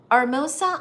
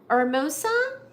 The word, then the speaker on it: Hermosa: Let the H in Hermosa is silent just as an hour. Hermosa. Oh, I'm so sorry. I've been saying it wrong. Hermosa.